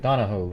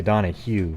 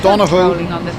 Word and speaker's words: Donohoe: it wrong donna ho i think it's like donahoe noah donahoe i always want to say donna hugh but because that's more